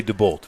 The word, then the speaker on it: DeBolt: Now, I've seen DeBolt and I've seen D Bolt. What do you suppose Hayden goes by? Uh I would say DeBolt, but Yeah, that's how we usually pronounce it.